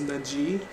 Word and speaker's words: Naji: My name is Naji, pronounced E, not A.